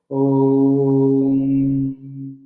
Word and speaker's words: Om: Om is a representation of technically 4 digits, 4 syllables, but people know only 3 syllables. A, U, M. That's why it is recited Om.